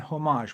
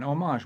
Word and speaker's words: homage: The Invicta Pro Diver 8928 OB is an homage watch, or an homage watch, depending on which way you want to say it, but it's spelled the same way as the word homage.